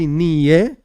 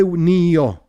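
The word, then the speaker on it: נהיה: There are different ways of pronouncing this. Some say niye, but we in Chabad say nio.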